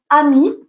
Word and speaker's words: Amy: Alors, je vais le prononcer à la française, comme ça sera plus simple. Amy, A-M-Y, Edmondson, donc E-D-M-O-N-S-O-N.